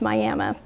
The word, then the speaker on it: Miami: sent back to to Mexico from Miami it's pronounced Miami over there Miami Arizona which is a mining community and many